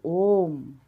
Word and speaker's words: Om: At the initial stage of creation, there was only the primordial sound Om, the combination of syllables A, that is A, U, and M. Om.